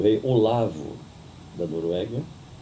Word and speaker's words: Olav: Recebi o rei Olavo da Noruega, eles pronunciam Olav, e falei com ele em norueguês.